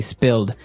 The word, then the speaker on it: spilled: Okay, spilled. Now, it's pronounced differently from spell, right? That's right, It has spill. an I, spilled.